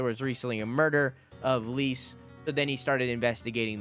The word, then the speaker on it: Lise: That's spelled Lise. So it's like Lisa, but Lise.